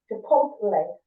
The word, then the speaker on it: Chipotle: Chipotle.